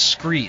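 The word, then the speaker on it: Skre: And my favorite and my proven gear is Scree. Scree is spelled S-K-R-E. It's kind of a play on the word from scree rock found at the bottom of a cliff face or something like that.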